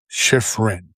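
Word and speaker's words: Shiffrin: But another skiing highlight was Michaela Schifrin. No, Schiff. I keep mispronouncing her name. Schifrin.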